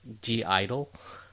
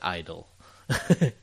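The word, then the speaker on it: (G)I-DLE: There's a group called, like, it's spelled like GI dash like DLE, like, so it's like G Idol, but I think they just call it Idol. Something with the Korean pronunciation, yeah.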